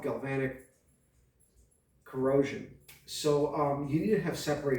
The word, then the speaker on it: galvanic: working with steel and aluminum and it's called galvanic corrosion so um you need to have separated tools my wife is laughing at me because the way that i pronounced it uh galvatic galvanic how the you want to say i'm